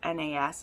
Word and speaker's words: Nas: So I read the first one, Dangerous Beauty, and this is about Nas, N-A-S is how you say that, Nas, and our